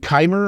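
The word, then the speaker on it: Qimir: it the entire fight scene between Saul and kimer or because I guess that's actually how his name is pronounced now that I've uh I'm actually in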